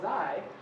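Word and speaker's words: ξ: And so if we take a ratio of those normalized transit durations, that parameter, which we call xi, which is one of the accepted pronunciations of that, should be close to 1, right?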